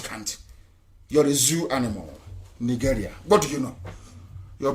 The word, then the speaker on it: Nigeria: Nigeria.